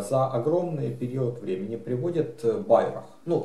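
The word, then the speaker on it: Bairoch: Ну, я его назвал Байрах, если же это не немец, а француз, то тогда правильнее говорить Берош. Ну, я не знаю, кто он по происхождению, поэтому я говорю Байрах. Так как оно пишется.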